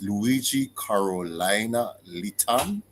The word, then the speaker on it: Luidgi Carolina Litan: Luidgi, it's Luidgi Carolina Litan. Is that the correct pronunciation? Yeah.